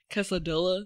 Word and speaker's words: quesadilla: Quesadilla. Yes. Quesadilla, yeah. Oh. It's how it's spelled. No. It is. Double L makes a Y sound.